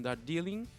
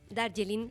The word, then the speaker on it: Darjeeling: Vamos a probar un Darjeeling, que es una variedad de té india. Darjeeling para el O chileno. Darjeeling. Se pronuncia de las dos formas Ya, en realidad.